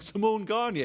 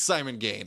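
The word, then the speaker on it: Simon Gane: and I'm just like Simone G and he's like sorry it's Simon gain I'm just like ah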